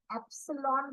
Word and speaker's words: epsilon: column the second is a EPS that is pronounced as Epsilon value and the second is a minimum points